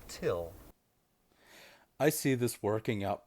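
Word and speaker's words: Thgil: It's spelled T-H-G-I-L, but it's pronounced Till.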